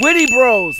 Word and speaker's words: Witte Bros: help you i yes is this wit bros witty bros yes Oh witty bros that's how you pronounce huh huh okay William